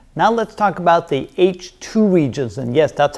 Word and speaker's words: H II: Now let's talk about the H2 regions. And yes, that's how you pronounce that.